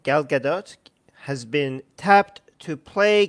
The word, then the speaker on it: Gadot: Gadot is how you say your name Gadot has been tapped to play Cleopatra and fan